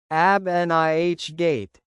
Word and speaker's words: abnegate: Abnegate, pronounced as ab-ni-gate, meaning to give up a right or desire.